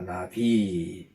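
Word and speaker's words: נביא: 나비. 이 발음을 잘 하셔야 돼요. 나비, 이름절에 액센트를 주면 날아다니는 이제 뭡니까? 꿀 찾아다니는, 꽃을 찾아다니는 나비가 될 수 있고요. 이음절에 액센트를 줘야 합니다.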